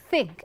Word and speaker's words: think: See, your upper incisors and your tongue, and then you need to blow air through the space.